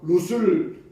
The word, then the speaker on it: 룻: 우리가 성경 읽다 보면은 롯과 룻을 여러분들이 혼동스러워하는데 롯과 룻 점 하나 차이예요. 롯은 아브라함의 조카로서 소돔성에 들어갔다가 그리고 멸망한 사람. 룻은 우발음이에요. 우발음 룻은 룻기에 나오는 모압 여인.